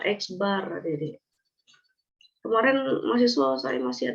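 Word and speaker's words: x̄: Tuliskan cara bacanya X yang Idris Apa itu bacanya eksbar Dedek kemarin mahasiswa sering masih ada juga salah dengar tadi apa Uh dia mendengar ever padahal Bar Akbar atau nilai rata-rata ini maknanya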